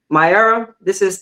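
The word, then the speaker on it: MyEra: So my era, and the name of my book is pronounced My Era.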